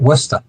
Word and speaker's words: Worcester: Got to say it right, Worcester. Worcester. Worcester. And listen, it's Drake it. I know how to pronounce the stuff.